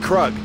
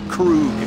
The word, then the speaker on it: Krug: without Jericho nobody and it's pronounced kug not Krug kug blew the ammonium job